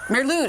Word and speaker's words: Mari Lwyd: I'm thinking like a Mari Lwyd, or Mari Flywyd, or whatever you pronounce it. The Welsh Christmas horse that shows up as a spirit. Mary Lwyd? Mary Lwyd is how you say it.